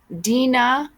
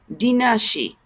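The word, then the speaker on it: Daoine Sídhe: this day as Aioshi, also called Deon Sid, pronounced Dinai. Dinashi.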